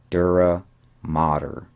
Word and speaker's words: dura mater: do that myself and the pronunciation is not matter but it's modern dura mater and this is the